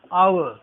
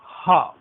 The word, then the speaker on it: hour: लेकिन हमें ध्यान रखना है कि here in this word H is silent, this is एन आवर, आवर, hour, not ha, hour, we should keep it in mind, this is hour, not hour।